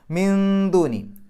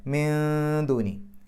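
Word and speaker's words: من دون: മിന്ദൂനി. ദാലിൻ്റെ മുമ്പ് സുക്കൂന നൂന് ഇഖ്ഫാ ചെയ്യുക, മറച്ചു വെച്ചുകൊണ്ട് മണിക്കുക. മിൻ എന്നുള്ളത് വെളിവാക്കി പറയൂല. മിന്ദൂനി.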